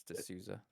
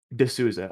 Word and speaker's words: D'Souza: I think it's D'Souza. D'Souza, okay.